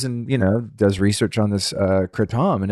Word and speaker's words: kratom: recently tried was called kratom, which is how they pronounce it in Thailand, but people here call it kratom. I dated a Thai girl. She was like, kratom? That's stupid. It's kratom. It's like, okay.